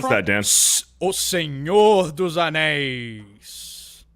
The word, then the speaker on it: O Senhor dos Anéis: O Senhor dos Anéis. I thought it was Senor dos Anus.